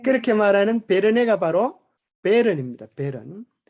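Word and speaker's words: Bern: 아름다운 베르네 맑은 시냇물이 넘쳐 흐르네. 예, 그렇게 말하는 베르네가 바로 베른입니다. 베른. 이것을 독일 발음으로 프랑스 발음이요. 프랑스 발음으로 읽으면 베르네가 된다 그럽니다.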